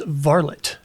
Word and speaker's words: Varlet: Hello everyone, it's Silver and this is varott. Yes, that's actually how you say it.